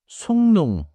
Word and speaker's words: 숭늉: One tiny pronunciation note. 속능. Sounds like 속농 with a connected 니은 sound after the final sound.